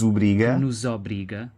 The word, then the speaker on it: obriga: Então acho que eu disse nos obriga, mas o segundo O é médio. É médio. Obriga. Nos obriga. Nos obriga. É médio, não é aberto, não é nos obriga e também não é nos obriga, é o de coco.